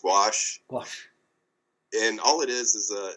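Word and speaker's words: gouache: pronounce the two because it's a you know partly a French term but i think it's wash wash and all it is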